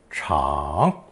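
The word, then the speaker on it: 厂: ping and unstressed but this character for a wide floored Factory is also pronounced third tone Chong what make of car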